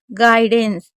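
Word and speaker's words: guidance: एंड गाइडेंस गाइडेंस गाइडेंस भी पढ़ते हैं, गाइडेंस भी पढ़ते हैं। क्योंकि अगर कभी भी यू के बाद आई होगा तो उसको आई ही पढ़ना है। गाई पढ़ना है।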